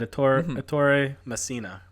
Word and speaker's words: Ettore Messina: And Ettore Messina, but pronounce it in an Italian accent.